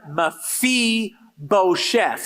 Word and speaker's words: Mephibosheth: mephibosheth on three and you pronounce it Mafi bochef all right one two three